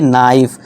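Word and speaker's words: knife: नाइफ।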